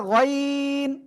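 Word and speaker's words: غين: য় ওকে অনেকে আইন বলতেছেন আইন নয় এটা গাইন গাইন মোটা আওয়াজে পড়তে হবে ওকে তো ইনশাআল্লাহ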